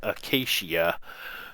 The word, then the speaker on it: acacia: trees and I did finally figure out how to pronounce about them they're called Acacia you know uh so